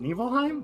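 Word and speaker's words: Nibelheim: It's it's it's called it's pronounced Nevilheim this whole time."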